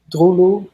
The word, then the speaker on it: Droeloe: Like we have this new artist group called Drulu. It's spelled Droeloe, and we just stumbled upon them on SoundCloud, and they're from Holland too.